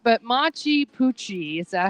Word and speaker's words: Machu Picchu: It's not, but Machu Picchu. Is that how you say it? Machu Picchu.